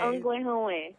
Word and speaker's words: Ongwe: So, how was my pronunciation of Ongwe Howe? Very close, actually. It's pretty good. Okay. Ongwe. Yeah.